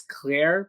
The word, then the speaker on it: Clear: But they talk to Clear, even though her name it's Claire, but it's spelled like clear.